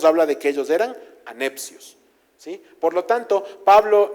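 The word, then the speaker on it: ἀνεψιός: Por otro lado, hay un vocablo específico para los primos que se llama o o se pronuncia anepcios. No es lo mismo adelfos que a necios, como no es lo mismo hermanos que primos.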